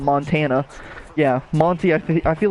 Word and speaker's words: Montagne: A lot of people say Montagne, a lot of people say Montaigne, some people just say fuck it and call him Montana.